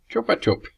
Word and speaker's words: Chupa Chup: In Australia we know this as a Chupa Chup. We all know this is pronounced with an so it sounds like a gun. Know how they say it here? They say it like Chupa Chup, like chook.